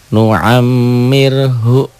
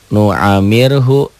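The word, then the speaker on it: نُعَمِّرْهُ: Ya bagaimana yang ini nuammirhu atau nuammir tuh karena ada tasdid inilah gunah mimnya bersidah bertasid pendobel dobel ditahan dan denggung coba tasjid ini hilangkan tuh bacanya jadi nuamir nuamirhu NU nuamirh nuamir wakaf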